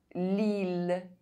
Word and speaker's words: Lille: I double L is only pronounced E if preceded by a consonant and followed by a vowel, except in ville, mille, tranquille, lille.